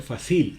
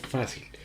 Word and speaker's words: fácil: vocal en ese entonces en este caso fácil fácil como tienes una palabra grave por qué por qué por qué tiene el acento en la penúltima sílaba entonces uno no dice fácil si no es fácil entonces ahora examinando lo l